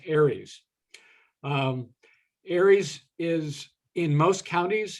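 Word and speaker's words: ARES: has its own acronym a-r-e-s usually pronounce aries aries is in most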